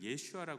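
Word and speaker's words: ישוע: 유독 이런 교회들은 예수님을 예슈아 불어요 유대인들의 표현은 유대 히브리어에서 아람어에서 예슈아 맞거든요 그 사실 우리도 예수님을 예슈아 불러도 전혀 문제가 없어요 왜요 이거 원어에 원래 발음에 가까운 거니까 원래 발음대로 부르는게 더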